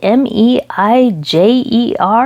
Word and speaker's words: Meijer: that's called Meijer, but it's spelled M-E-I-J-E-R, but it's pronounced Meijer or something like that.